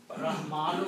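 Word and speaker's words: الرَّحْمٰنِ: But when you are reading in the continuity, this word will sound Rahmani.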